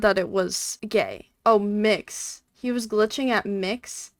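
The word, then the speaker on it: Mx.: Cameron, tell me what your It's pronounced mix.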